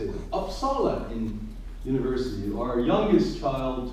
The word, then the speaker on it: Uppsala: Uppsala in university.